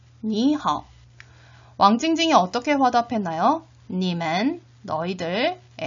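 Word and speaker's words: 你好: 삼성 뒤에 삼성이 오면 앞에 삼성은 이성으로 자연스럽게 발음을 해주셔야 됩니다. 같이 한번 발음해 보도록 하겠습니다. 니하오, 니하오, 니하오.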